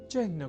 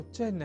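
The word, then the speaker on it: चिह्न: अर्थात चिन्ह में अर्ध हकार के बाद न इस अक्षर का संयोग होता है।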